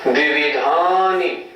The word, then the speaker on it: द्विविधानि: द्विविधानि, द्विविधानि। इसका भी उच्चारण हमें ठीक करना चाहिए। बहुत से लोग बोलते हैं द्विविधानि, पंचेंद्रियाणि, द्विविधानि। नहीं, ऐसे नहीं, द्विविधानि पंचेंद्रियाणि। जोर देना है या पे, धा पे।